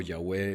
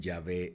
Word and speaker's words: Yahweh: Ahora vamos a ver ya los nombres compuestos como Yahweh Elohim, y en Génesis 2.4 encontramos Yahweh es Dios. En algunos lugares dicen Yahvé es Dios.